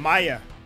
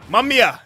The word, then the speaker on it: Mamiya: Find Maya. Mamiya. Yeah, I said it right.